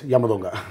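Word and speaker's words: Yamadonga: Have I pronounced it right? Yes, Yamo Donga.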